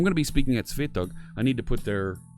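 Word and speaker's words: Swetugg: I'll make sure I pronounce that right. My Swedish friends corrected my pronunciation the other day. I'm going to be speaking at Svetog.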